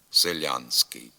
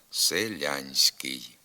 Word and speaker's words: селянський: суфіксі СК а отже послідовно твердо вимовляється і звук н перед твердим с селянський треба пом'якшувати обидва звуки селянський попрактикуємося повторюйте за мною